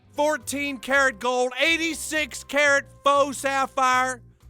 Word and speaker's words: Faux: 14 karat gold, 86 karat faux sapphire. Faux is a French word. It's got an X in it, but you don't even pronounce the X.